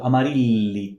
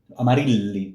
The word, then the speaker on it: Amarilli: So Amarilli, l, it's here, right? Amarilli, pronounce it well.